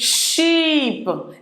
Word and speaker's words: sheep: So it's sheep. It's different from ship. One is pronounced long pronunciation, and the other one is short, sheep.